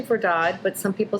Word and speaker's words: Verdad: is it verdad or here's how do you pronounce that well I'd say for dodd but some people say for dad and it would be saying to be it's verdad but it's all good it's all good it